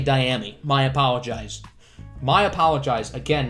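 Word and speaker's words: Dyami: carolina to the saints i've been pronouncing it diami brown but it's actually diamy my apologize my apologize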